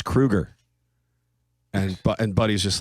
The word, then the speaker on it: Kroeger: in interviews that says, just spell it out phonetically, Crew, next word Ger. It's Kroeger.